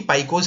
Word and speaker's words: Paika: जानने वाली बात यहां पर है कि पाइकोज है कौन। देखिए जनरली लोग इसे पाइका बोलते हैं, पर हम लोग प्रोनाउंस इसे करेंगे पाइको। ओरिजिनली किया जाता है प्रोनाउंस।